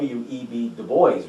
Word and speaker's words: Dubois: I I think the proper way to say it is the web de boys road because that's actually a real person.